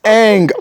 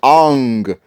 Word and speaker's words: Aang: Cause how do you get everybody's name wrong? Everybody? Like Why is Aang Ang?